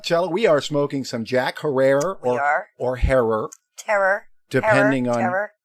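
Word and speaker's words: Jack Herer: As we do spark up, Chela, we are smoking some Jack Herrera or Herrer. Terror. Depending on who you talk to. Well, somebody said that Jack Herrer told them it rhymes with terror.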